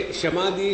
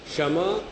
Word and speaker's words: शम: शम, दम, उपरति, श्रद्धा, तितिक्षा और फिर समाधान। पहले क्षमा नहीं, दक्षिणी लोग उच्चारण ऐसा ही कहते हैं, क्षमा, दमा।